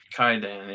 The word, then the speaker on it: Kwaidan: Kwaidan, is that how you say it? Kwaidan, yeah.